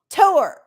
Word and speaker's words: tour: up hi Matt good to see you yeah tour listen to it y'all she always says tour tour tour no it's tour it's tour it's one syllable tour not t piss